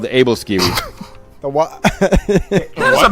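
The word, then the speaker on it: Æbleskiver: There isn't because they pronounce V's as W, like Aquavit.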